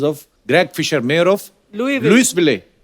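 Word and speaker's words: Louisville: आज आगे तभी बढ़ेंगे लुईस जब लिखा है तो स क्यों नहीं बोल रहे हैं जैसे नाइफ में क साइलेंट होता है के साइलेंट होता है वो तो के पहले आता है ये तो बीच में घुसा हुआ है बट कई बार लुईस प्रोनाउंस होता है एस के साथ और कई बार नहीं वो कई क्यों नहीं होता है कब होता है ये मुझे पता नहीं है मेयर ऑफ लुई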